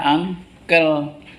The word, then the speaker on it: uncle: Tulisannya uncle bacanya unkel.